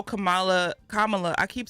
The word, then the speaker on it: Kamala: know exactly you know when we see her name we say Kamala but Kamala I'm trying to say say her name right I do like that